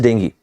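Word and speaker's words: dengue: diagnosed with being in the exact pronunciation as i said is dinghy this is the fever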